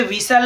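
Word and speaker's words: whistle: You silent है। ठीक है? ऐसे विसल है तो विसल में टी साइलेंट है।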